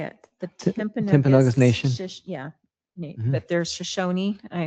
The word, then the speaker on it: Timpanogos: The Timpanogos Yeah.